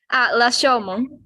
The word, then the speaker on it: Rashomon: Rashomon. Oh my goodness. Wow. Rashomon. Maybe the U sounds, long U sounds Rashomon.